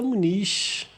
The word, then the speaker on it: Muniz: que pode chegar aí a lugares inimagináveis, Thaisa Muniz. É assim que se pronuncia seu nome?